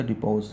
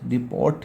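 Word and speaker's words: depots: होते हैं, ठीक है, टी साइलेंट है से डिपो पढ़ते हैं, ऐसा आगे था डिपोज, डिपोट नहीं पढ़ते।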